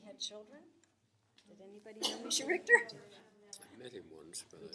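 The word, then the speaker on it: Mischa Richter: Well, we have a wonderful cartoon two here by Misha Richter. And is that how his name is pronounced?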